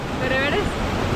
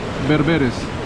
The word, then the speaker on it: bereberes: berebere, Y cuando son muchos en plural, bereberes. sí, es bereberes. No sé, yo me imagino. ¿Bereberes o berberes? Berberes. No.